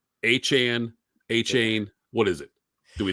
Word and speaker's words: Achane: It's Achane. What is it? Do we know? He says Achane, but I like Achane better.